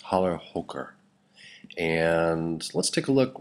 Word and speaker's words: Challerhocker: walter ross produces this cheese called halo hooker that's the better pronunciation of this holler hooker and let's take a